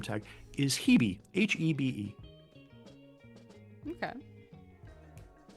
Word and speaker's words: Hebe: Her name tag, because she's got a little gold-plated name tag, is Hebe, Hebe. Okay. Or Ebe, because I think they don't pronounce the H.